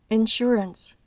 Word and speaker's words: insurance: regla son las palabras Sugar sure que se pronuncian con el sonido sh se encuentra esta pronunciación también en las palabras usual Insurance issue palabras que empiezan con el